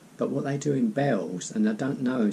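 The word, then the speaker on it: Bealls: there's a shop called bells being a a LLS sounds not Beals it's pronounced bells I believe it's basically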